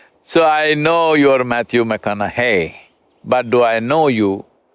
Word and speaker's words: McConaughey: try the second name uh mcconnell hey rhymes with what would madonna say so so i know you're matthew mcconaughey but do i know